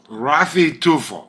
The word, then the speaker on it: Raffy Tulfo: Rafi Tolpo. Rafi Tufo.